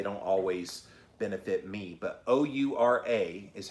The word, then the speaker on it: Oura: But O-U-R-A is how you spell it, Oura.